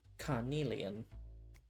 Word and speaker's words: Carnelon: And that rhymes with my name, Carnelon.